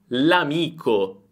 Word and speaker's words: l'amico: Pay attention, here we pronounce everything as a single word, "l'amico", "l'asino". This is a very important thing, get used to this sound. If I say "l'amico" I am saying the article + the word "amico".